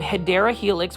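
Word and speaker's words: Hedera helix: And of course, we are looking at these beautiful green hedra helix. So, for those that are new to the channel, I mispronounced um hideera helix, which is the correct way to say English ivy.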